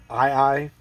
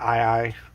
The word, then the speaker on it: Ae Ae: way i've heard it it's ii said with a hawaiian native hawaiian language accent kind of thing it's spelled a-e-a-e